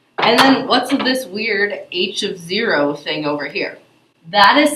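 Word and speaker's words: h₀: H of 0 that's how you say it when it has that subscript, that little 0 written down below the h.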